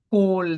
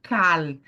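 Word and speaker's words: כל: palavra ó toda hora perceba que aqui você tem col não é cal tá pessoal aqui não é cal aqui é col lembra que eu falei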